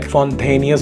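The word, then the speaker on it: Fontainhas: रास्ते में जो वो फोंटेनियस रोड है, फोंटेनियस उसको कुछ ऐसी प्रोनाउंसिएशन है, that is old Portugal vibe वहाँ पर आपको क्रिएटेड मिलेगी।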